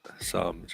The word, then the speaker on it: Psalms: It's got a quiet P, but... Oh, don't start sorry. that's all the French coming over, throwing around their silent P's and E's. Yeah. So how's it pronounced? Psalms? Psalms, yeah.